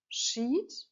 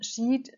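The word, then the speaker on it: Sheat: Still in July, Saturn is still close to fixed star Sheet. It's spelled S-H-E-A-T, and Sheet stands for extreme loss and for sorrow and pain, and also for things like grief.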